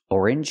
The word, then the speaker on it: orange: is not correct first we need to sound or or like Flor and more Orin ore juice orange juice we need another